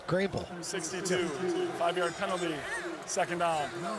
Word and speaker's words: Greenville: of North Car Carolina that you pronounce the name of the town correctly which you always do Greenville yeah that Greenville right Greenville what are we doing it's Greenville 62 5yd penalty second